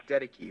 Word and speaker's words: Dedeke: I gotta say, the actor you chose to play John Dedeke, is that the correct pronunciation? Dedeke.